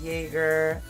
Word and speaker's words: Jagger: It's German, pronounced Jaegger, and it means hunter.